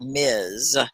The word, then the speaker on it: Ms: together so ms period that is like ms it sounds like a z and that's for professional